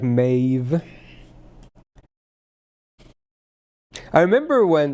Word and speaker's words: Medb: Not pronounced medb. True. True. It's like Mave.